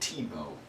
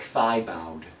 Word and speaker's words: Thibaut: When I was in elementary school, I had this a French classmate who was named Thibaut. It was spelled like Thibaud, so we called him Thibaud.